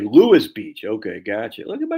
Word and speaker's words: Lewes: Pronounced like Lewis Beach.